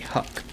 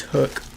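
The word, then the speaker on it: Huk: hook it's pronounced h-u-k I like to say Huck but um it's it's hook this sold for 28.99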